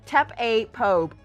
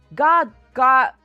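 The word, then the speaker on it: гардероб: Yeah, because like if I were to just pronounce what I see here, it would be like tap a pope. One sec, woman. Thanks. Thank you. It's really interesting that they garderobe.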